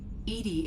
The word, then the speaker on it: EDI: are you named Edie Edie is the phonetic pronunciation of EDI that is an acronym for enhanced defense intelligence where are you located